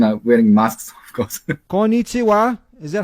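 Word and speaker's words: こんにちは: Konnichiwa, is that how you say it?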